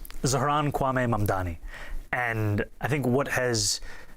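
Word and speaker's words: Zohran Kwame Mamdani: your full name, Zaharanwaame Mandani.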